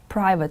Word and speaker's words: private: it do you know it is private school the stress is on the first syllable is it free to